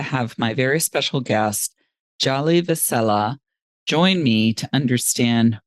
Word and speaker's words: Djali: Now, I just want to clarify for everybody, your name in English sounds like but it's actually Djali. So the D is silent and it's Djali. That's right. Thank you so much, Hilary. It's like DJ Ali.